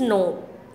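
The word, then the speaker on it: knot: नोट means नहीं, तो अब इसका क्या होगा, इसका क्या होगा, नॉट। इसका भी नॉट होगा। इसमें के क्या होता है बच्चों, साइलेंट होता है। के क्या होता है, साइलेंट।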